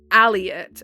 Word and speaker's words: Elliot: I am originally from any names like Elliot spelled with an E we would say them like aliot as if they were